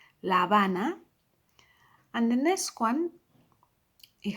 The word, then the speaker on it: La Habana: Now we come across now a city, two words, but the second word starts with a H, therefore silent, La Habana.